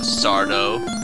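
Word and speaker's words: Sarda: got the rod from sardo accent on the dough no mr.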